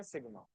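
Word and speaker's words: sigma: Deviation का साइन है इसको प्रोनाउंस करते हैं सिग्मा ठीक है और सुन तो तुझे क्यों डाउट हो रहा है?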